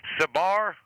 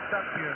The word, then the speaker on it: Satbir: Is it Sabir? Uh you would pronounce it as Satbir.